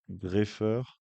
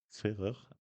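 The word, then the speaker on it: Gfrerer: Chez les hommes, c'est un jeune combiné autrichien qui l'a emporté, Andreas Greffer, euh, Ferrer, pardon, Ferrer, GFR, hein, je vous défie de le prononcer, G-F-R-E-R-E-R.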